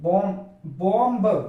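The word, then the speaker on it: bomb: बी आ रहा है, यदि एम के बाद बी आएगा तो बी साइलेंट होगा, यानी कि बी को नहीं पढ़ा जाएगा। यहां पर जैसे देखते हैं बॉम्ब बॉम्ब होता है, लेकिन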